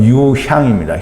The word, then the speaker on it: 유향: 근데 유향이라는 단어는 유황이 아니고요, 유향입니다.